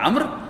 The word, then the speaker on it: عمرو: اس کا نام تھا عمرو بن لحی. یہ میں نے اس کے ہجے لکھے ہوئے ہیں، عین میم رے واو، اس کا تلفظ ہے عمر، لکھنے میں عمرو ہوتا ہے لیکن تلفظ ہے عمر.